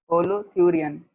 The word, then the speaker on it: holothurian: होलोथ्यूरियन, इसका common name पता होना चाहिए आपको, कॉमनली इसको बोलते हैं सी कुकुम्बर, ठीक है।